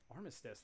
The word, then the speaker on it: Armistice: day or Remembrance Day Armistice that's hard say that 10 times ar ar arm arm arm s is silent it's armst all right